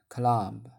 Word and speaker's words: climb: Climb. 闭不发音 climb, go climbing.